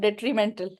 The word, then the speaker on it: detrimental: workers and they what is the spellings of detrimental just read them out detrimental detrimental d e